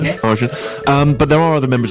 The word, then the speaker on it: Argent: Am I pronouncing that right? Yes. Argent.